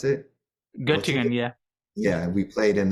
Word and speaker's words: Göttingen: Is that how you pronounce it? Göttingen, yeah.